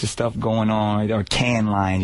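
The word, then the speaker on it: Cannes Lions: We were just out there uh Can's Lion. So there's a bunch of stuff going on or can lines. You don't pronounce the S.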